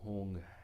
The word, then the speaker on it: hung: mind, the enlightened mind, the awakened mind, the syllable hung, H-U-N-G.